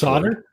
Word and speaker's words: solder: Dave would like to hear everyone pronounce this solder. Solder. Solder. Oh. Solder. Oh yeah, I didn't know it was spelled like that, but yeah, solder. It's not solder. It's just solder.